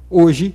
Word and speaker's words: hoje: você escuta você escreveria hoje sem o h porque o h não tem som nenhum no começo da palavra é só que a